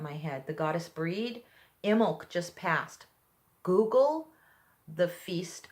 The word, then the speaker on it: Imbolc: Imbolc just passed. Google the Feast of Imbolc. It's spelled I-M-B-O-L-C. The B is silent.